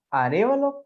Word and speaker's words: Arévalo: Arévalo con tilde en la E.